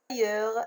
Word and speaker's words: ailleurs: Ailleurs, la lettre muette, c'est S.